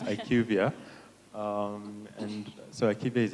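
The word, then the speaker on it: IQVIA: So about you're pronouncing it right. So it's Ivia.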